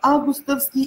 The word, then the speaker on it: августовский: Итак, августовский или августовский. А или О. И так... Самсон и Лев говорят, что нужно ударение поставить на А.